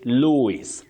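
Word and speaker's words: Lewis: They know that the spelling is L E W I S. But you say Louis, not Louis.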